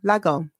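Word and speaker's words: Lagom: Have I pronounced it right? Probably not. Is it Lagon? Lagon.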